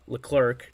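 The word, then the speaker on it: Leclerc: no hits one strike out and then uh L clerk that's how you pronounce his name pitched an inning the ninth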